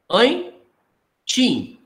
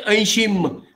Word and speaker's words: aishi: sattarani no, aishi, aishi, two syllable, aishi. You cannot say aishim because there is no apostrophe here.